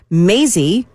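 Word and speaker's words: Mazie: remember her name well Maisy rhymes with crazy thank you boom Maisy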